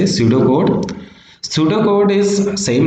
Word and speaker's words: pseudocode: now shooter would actually the P is silent here that's why we say pseudocode pseudocode is same like